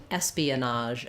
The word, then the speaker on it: espionage: the word Espionage again this is a word that comes from the French but we have a slightly different pronunciation in English so espionage Espionage um so let's break this one down for you um we have first syllable stress and the letters es say the same thing that the the letter s says the S sound um so that's the